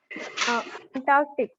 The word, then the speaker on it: Antarctic: The next word is Antarctic. Antarctic. that word? Yes. Antarctic. Okay. Okay. Neeta ji, what is the pronunciation? Antarctic. Yeah. Anita ji? Antarctic. Antarctic. Antarctic. And Antarctic. Yes, this is Antarctic.